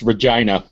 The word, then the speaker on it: Regina: It's actually pronounced Regina.